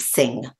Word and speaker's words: Singh: Her name is pronounced Singh.